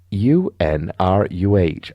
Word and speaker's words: Unruh: Philip and Sandra Unruh, that's pronounced U-N-R-U-H, Unruh, present a litany of